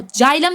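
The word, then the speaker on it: xylem: जाइलम जो है देखो जाइलम ज से आ रहा है। ओके? एक्स से स्पेलिंग है। लेकिन हम प्रोनाउंसिएशन कैसे करते हैं?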